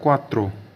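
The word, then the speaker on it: quattro: बाद है चार चार को बोला जाता है क्वात्रो क्य यू ए T double T आर ओ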